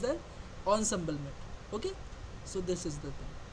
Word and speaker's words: ensemble: emble method okay or Ensemble method it is pronounced that onbl okay so this is the thing I have